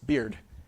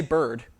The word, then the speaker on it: beard: So this is simply that Stevens probably would have rhymed heard with feared, cleared, beard, etc. So he probably would have said, I heard. And we all have a marker of this in the way we pronounce beard, right? We don't say bird, we say beard, right?